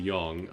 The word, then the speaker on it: Yang: I keep switching between Yang and Yang. I think it's Yang. It should be Yang, alright? That's how it's spelled, that's how it should be pronounced.